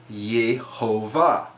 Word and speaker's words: Yehovah: However, you will see the dots around the letter, and you get the pronunciation of Yehovah as it appears here.